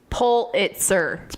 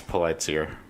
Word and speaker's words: Pulitzer: had to look at the Pulitzer board pronounces it pull it's earth right sir that's what I was saying it's polite Pulitzer it's polite seer Pulitzer sounds like saying